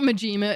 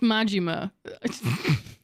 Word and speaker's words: Majima: It's not Majima, it's Majima.